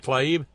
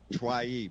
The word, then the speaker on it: Tlaib: Rashida Tlaib. Tlaib, that's it, Tlaib, Rashida Tlaib, the one that said impeach the motherfucker.